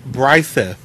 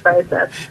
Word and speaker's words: Breiseth: Breiseth.